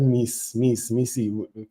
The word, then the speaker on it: Maestro: Hillary said MI. I like pronouncing Miy but it's MI. No.